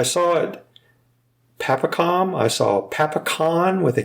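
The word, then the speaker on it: pasokon: So in English, we'll write it with a C, but in Japanese, there is no C. So it's really pronounced as like a K sound.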